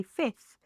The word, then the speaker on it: fifth: Here, you don't really have to drop the th, but you can drop the f. You can say fifth.